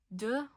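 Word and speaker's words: deux: So ah duh. You do not pronounce the x over here.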